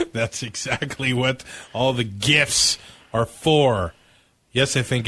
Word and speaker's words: GIF: supposed to be pronounced jiff but it's graphic image whatever so it's a hard G so it's gift like let's not kid